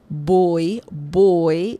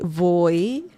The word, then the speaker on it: voy: Boy, it sounds like you're saying, the English word B-O-Y, boy. Same pronunciation, boy. Remember, again, the V sound is different in Spanish. If you say voy, with the V sound, it's fine.